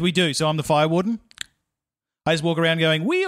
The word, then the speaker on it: Farr-Wharton: totally get it also you mispronounced my surname oh really yeah it's it's fire warden I'm buying the yep